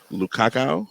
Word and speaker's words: Lukaku: Romelu, is that how you pronounce his name? Lukaku?